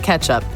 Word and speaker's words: Catsup: It's spelled Catsup, but you say it ketchup.